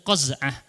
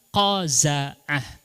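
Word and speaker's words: قزعة: saya Cek di kamus yang bener bukan qazah tetapi qaza'ah Zaina di fathahkan kalau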